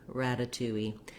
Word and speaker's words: ratatouille: lifting up rada ratatouille it's the same kind of tea we find in words like water little seattle city etc you can just think of it as d's and i've rewritten it here with d's for you just so that you can naturally say that voiced uh flap sound rata ratatouille then this a is